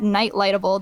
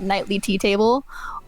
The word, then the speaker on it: Nightlightable: You can find me on Twitter at Nightlightable. That is how you say it. It is not Nightly Tea Table.